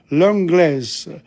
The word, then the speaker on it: l'anglais: la française, la française, l'anglaise, la cousine, la chienne, la chatte. But notice what happens in l'avocat. We don't pronounce the T. Okay? Le français, you don't pronounce the S. L'anglais.